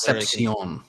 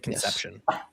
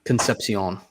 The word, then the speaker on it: Concepcion: Concep Con I I I believe his last name is Concepcion. Is it Concepcion or is it Conception? Concepcion.